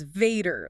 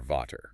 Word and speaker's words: Vater: It becomes the English F. V equals F. So the mnemonic is V is for father. Right, which is handy because the German word for father starts with a V. It's spelled V-A-T-E-R. And your English brain just screams Vader, like Darth Vader. Totally. Luke, I am your Vater. But if you apply the rule, V is F. It's Vater. Vader. It sounds almost exactly like the English word father.